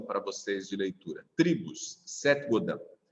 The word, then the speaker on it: Seth Godin: Seth Godin se escreve. Seth com S-E-T-H. E o Godin, do jeito que se fala. Godin. Do jeito que eu estou falando, quer dizer. Godin, com N no final.